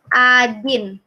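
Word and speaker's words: один: ini ya satu bacanya Ajin Hai doa Hai Ajin yo yo ada pengecualian ikan takkan walaupun tulisannya O itu dibacanya a Hai Ajin Ajin Ajin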